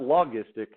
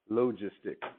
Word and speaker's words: logistic: called exponential and logistic logistic that's how you pronounce that second one not loggia sztyc logistic alright so it says right